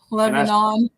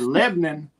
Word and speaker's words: Lebanon: Lebanon. Yeah. I said, "Uh, Lebanon is across the ocean, William." I said, "Lebn, Tennessee is is right down the road."